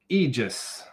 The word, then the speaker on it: Aegis: Aegis Gun Care, not Aegis. My bad. I should know how to pronounce things. It's just the A is like right there. It's like tempting me, man.